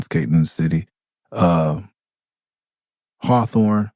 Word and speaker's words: Hawthorne: in the city uh Hawthorne hathorne if you don't have somebody friend say hathorne that's how you say it in um in the you know ebonics or whatever you want to call it cousin live in